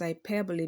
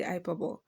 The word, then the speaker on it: hyperbole: are yet to watch the first video I'm pronouncing this as ipero because that is the correct pronunciation I know